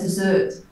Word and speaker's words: dessert: Well, there's desert and there's dessert.